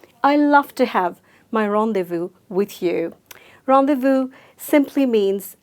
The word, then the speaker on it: rendezvous: They, just eliminate the Z sound and eliminate the S sound and just say vous. So let's say it together. Ron, they, vous. I love to have my rendezvous with you.